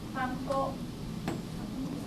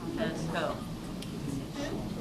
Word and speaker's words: panko: Panko. Yep. How do you break up? Panko. Ko. Right. And ko. In Japanese, we use mora. So there are 3 moras. Pa, in, ko.